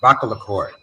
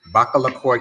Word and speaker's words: Bakalakoi: the kingdom is pronounced Bakalakoi. So it's kind of like baklava plus the koi Yes. fish. Okay. Bakalakoi. Bakalakoi Kingdom.